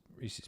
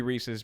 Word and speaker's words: Reese's: information my mind says it has to be Reese's because Reese's rhymes with pieces that's that's pretty logical